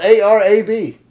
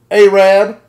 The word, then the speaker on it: Arab: a little town south of Huntsville Alabama it is spelled a Rab that word is Arab yeah not to them what is it a rad they Rev and I thought it was like